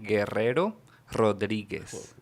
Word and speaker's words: Guerrero Rodriguez: Guerrero Rodriguez. I'm going to use that as my exercise. Yeah. Arr. That is called a trill. That's A trill. Yes. roll your R's.